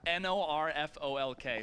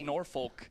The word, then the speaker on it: Norfolk: that's how they call in the south guys it's spelled n-o-r-f-o-l-k so when i first got there it was norfolk they're like no no it's pronounced norfolk and